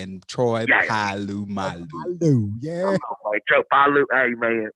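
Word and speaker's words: Polamalu: You don't let not one syllable go. Boy, it is Abu Dhabi and Troy Palu Malu.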